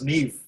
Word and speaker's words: Neve: Just Neve, N-E-E-V, without the E on the end. So you pronounce this as Neve.